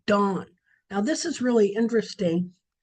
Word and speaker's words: Dan: It means it sounds the same, only it won't be pronounced Dan, it would be pronounced Dawn.